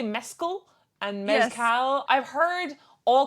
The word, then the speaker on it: Mescal: name name yeah like I've heard people say Mescal and Mescal I've heard all kinds of pronunciations from Irish people and non-irish people alike